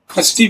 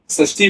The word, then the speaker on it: षष्ठी: कुछ लोग इसका प्रोनाउंसिएशन खष्टी भी करते हैं, तो दोनों ही ठीक है, षष्ठी बोलिए या खष्टी बोलिए।